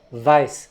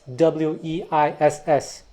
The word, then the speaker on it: Weiss: But actually that French spelling is an approximation of the German name Weiss, W-E-I-S-S. In France, I've also seen that name spelled V-E-E-S, Weiss, like the guitarist Eugène Weiss who played with Django.